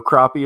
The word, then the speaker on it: crappie: But just so you know, crappie is the correct way to say the name for that fish, and because where you're from, I'm not far from you.